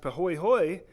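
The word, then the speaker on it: pāhoehoe: 220 feet thick but Hui Hui which is pronounced pahoehoe is it is more smooth ons surface than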